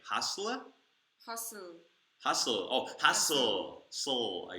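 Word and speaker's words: HaSeul: Hassler? Change? What? Someone is clarifying how to say the name. Hassler? Hustle.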